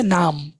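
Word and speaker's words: Name: হবে নামে মানে হচ্ছে নাম এখানে দেখেন ইংরেজিতে এটা নেম প্রোনাউন্সিয়েশন আসে আর ডে আসে এন আনা এম এম এ নামে প্রোনাউন্সিয়েশন আমরা দেখব মাই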